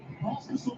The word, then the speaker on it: Pospisil: Well, Pospisil doesn't exactly rhyme with hospital, but that's where he spent a good chunk of time over the last 4 years.